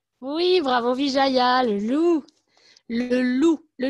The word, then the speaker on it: loup: cinéma très bien oui bravo vijaya loup le loup le loup qui a un pet finale mais ne se prononce pas s'est pas loupé cellou bravo ranque